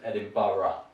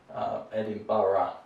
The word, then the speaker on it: Edinburgh: edinburgh and other people prefer edinburgh so my pronunciation is edinburgh not edinburgh not edinburgh edinburgh right thailand i've heard people pronounce this as